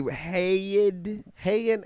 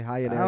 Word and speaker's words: Heian: Heian era. Heian. Yes, high-end Heian. Some people pronounce it differently. I say Heian. Some people say high-end era.